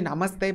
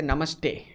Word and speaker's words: namaste: of because namaste namaste namaste it's actually namaste but americans say namaste it's actually namaste nah american and uh and